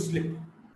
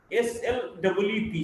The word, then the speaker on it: sleep: So the word sleep and slip. When you want to go to sleep, we often pronounce we're going to slip. So there's a basic difference between these two sounds. S-L-E-E-P, sleep, the vowel sound is little longer, and S-L-I-P, slip, the vowel sound is shorter.